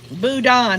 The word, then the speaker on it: Boudin: Boudin, that's how you say it.